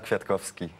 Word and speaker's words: Kwiatkowski: Oui, bonjour, je m'appelle Michal Kwiatkowski.